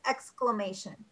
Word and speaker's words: exclamation: exclamation exclamation explain excla we say clock we don't do the i we kind of roll over the eye in that word but it's exclamation exclamation got it well um